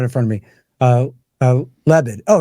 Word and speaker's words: Lebed: don't have it in front of me uh lebed oh it's just lebed right yeah and then um I was I was thinking of mvev and that was screwing me up it's just lebed general leit and then um the guy from